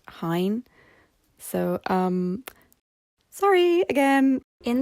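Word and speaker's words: Hyne: me recording this that it's probably pronounced Hine so um sorry again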